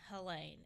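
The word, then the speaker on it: Helene: already done good example the response to Hurricane helain and that is how it's pronounced by the way because it is my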